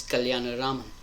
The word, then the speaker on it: Kalyanaraman: the hardest things you will learn is to pronounce and spell my last name, which is Kalyanaraman.